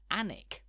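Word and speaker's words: Alnwick: most Northerly county is anik spelled with a silent l and a silent W for good measure you might know anik as the home of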